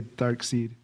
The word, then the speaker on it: Darkseid: And because they're like, "Oh, that's too cliche if it would be side," but actually that's the whole point, is it's an alternate spelling, so you get the name Darkseid without it having be S-I-D-E, which would sound a little too on the nose.